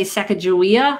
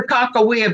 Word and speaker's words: Sacagawea: I say Sacagawea. Some say Sacagawea. I've heard like 5 different pronunciations. I have to say Sacagawea because I'm from North Dakota and that's where she was from.